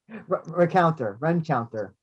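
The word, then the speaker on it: Rencountre: You going to help me with his pronunciation, Andrew? Chance. Rencounter.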